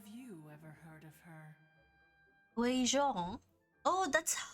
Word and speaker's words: Guizhong: Guizhong?